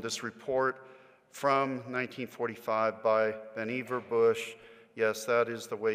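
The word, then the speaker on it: Vannevar Bush: funded research on this report from 1945 by benever Bush yes that is the way you pronounce the name of our patron saint here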